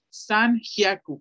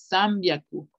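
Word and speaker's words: 三百: Dicen sambyaku, sambyaku, sambyaku. Esta es una N, aquí dice san, pero fonéticamente, pronúncienlo y analícenlo, cuando se junta una N y una B, inconscientemente pronunciamos una M, sambyaku, sambyaku.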